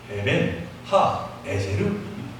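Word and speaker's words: אבן העזר: 그리고 이 에베네셀의 원 발음이 바로 에벤 하 에제르입니다. 곧 에제르, 하나님이 우리를 돕는 배필이시다 라고 하는 뜻이 담겨 있는 것이죠.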